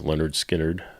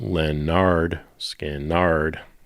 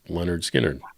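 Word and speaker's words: Lynyrd Skynyrd: And then Mark, different Mark says, "Leonard Skinnard second helping, not Leonard Skannard."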